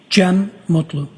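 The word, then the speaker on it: Cem Mutlu: Jen Mutlu.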